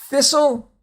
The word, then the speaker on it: thistle: Thistle, it's a weed. And whistle. Again, notice the silent T, and again, the last two has the E's not pronounced either.